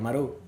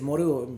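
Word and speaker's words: Moreau: lo mencioné, la de la isla del Doctor Maru. Sí, es Moru, bueno, como se pronuncia, Okay.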